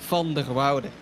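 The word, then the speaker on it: van der Wilde: across the line Dan tell me how to pronounce his name properly the Dutchman comes uh V Wilder Alexander vonder Wilder lovely indeed Vander Wilder comes across the line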